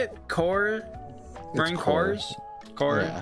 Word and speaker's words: Corps: It's Marine Corps. Or is that cors? It's core. It's singular. So, the the P is silent. The S is silent.